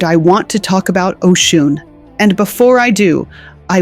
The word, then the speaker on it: Oshun: Oshun, pronounced Oshun, is the Yoruba Orisha of rivers, fertility, love, pleasure, and feminine power.